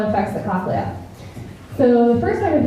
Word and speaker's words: cochlea: So most audiologists pronounce it cochlea, and by most, pretty much everyone except for one.